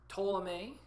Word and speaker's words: Ptolemy: gets Greece and Macedon ptolemee with the P is silent gets Egypt so Lucis